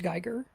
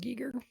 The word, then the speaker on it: Giger: It's not pronounced Geiger. I believe it's pronounced Giger.